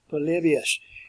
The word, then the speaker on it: Polybius: So work on your pronunciation here, Polybius.